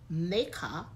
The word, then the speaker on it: Makkeh: The word, the first word, Makkeh, is used in the Old Testament in Genesis